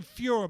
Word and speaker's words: furor: go over the name fewer by the way it's a it's not the fear you think it's spelt fu ror and that's like excitement and